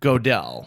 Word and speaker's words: Godel: told me hey listen it's like the computer dell dell computers but with a go yeah gödel like you're cheering for